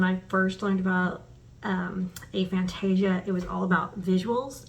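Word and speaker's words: aphantasia: beginning of this channel I was saying um all Fantasia and then I learned that um the scientists are more pronouncing it a Fantasia instead of off eighth of Fantasia a Fantasia um so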